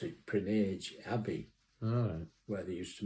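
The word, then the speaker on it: Prinknash: don't know where it's still there there it's pronounced prage but it's PR Nash that's how it's spelled yeah but they pronounce it prage Abby where they used to make pots and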